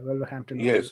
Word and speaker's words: Wolverhampton Wanderers: Brighton versus Wolverhampton Wanderers. Am I saying it right? Yeah, Wolverhampton Wanderers.